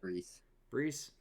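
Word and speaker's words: Bresee: Brees. Brian Brees to the Cowboys at 26.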